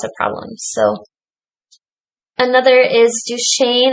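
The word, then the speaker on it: Duchenne: problems so another is Duchesne I think is how you say that muscular dystrophy it's a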